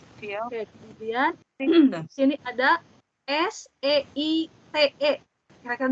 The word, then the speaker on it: Seite: sini ada SEITE. Kira-kira dibacanya apa? EI. Seite. Seite. benar, Seite. EI dibacanya AI.